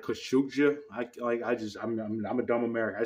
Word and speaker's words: Khashoggi: Jamal Khashoggi. I know it's not pronounced like that. It's like Khashoggi.